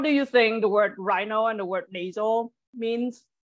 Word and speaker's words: rhino: rhinoceros is the um RH like pronounced just like an R so rhino can you pronounce it